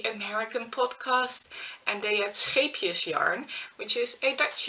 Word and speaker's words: Scheepjes: But people that are native English speakers pronounce it as sheepjes, which would be like little sheep, and it's so different.